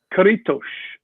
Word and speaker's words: Caretos: Okay, is it pronounced Caretos? Caretos, like tush, Caretos. Why the sh? Like how Inish is Inish.